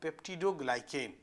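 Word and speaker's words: peptidoglycan: और बैक्टीरिया में देखिएगा तो पेप्टिडोग्लाइकेन मैं उच्चारण कर देता हूं। यह आसान है। पेप्टिडो देखिए पेप टीडो ग्लाइकेन ग्लाइकेन तो एक ये तीनों मॉलिक्यूल अलग-अलग प्रकार का अलग-अलग प्रवृत्ति का है।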